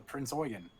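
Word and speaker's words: Prinz Eugen: Because actually, MSU Bill sent us wanted it to call it the Prince Eugen. So PRINZ. Prinz. And then EUGEN. Oh, two words. Oh. It's Prince Eugen.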